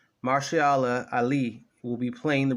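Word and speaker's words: Mahershala: which was July the 20th they announced that marshal Allah from pronouncing his first name correctly Marcy Allah Ali will be playing the role of bullet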